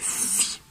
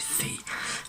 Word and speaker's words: Fi: Faye, je vous l'avais dit tout à l'heure, tel est le nom qui m'a été donné. Alors, je crois qu'en anglais c'est Fee, mais en français c'est Faye.